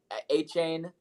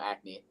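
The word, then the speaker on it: Achane: __ ] okay Devin a chain I was about to say his name wrong because I always call him acne Devin a chain has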